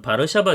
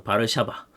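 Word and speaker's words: Warszawa: 반응을 해요 그리고 WTO 해서 어 사유진 진영에서 바르샤바 조약 기구가 있는데 우리가 지금 생각하는 이제 월드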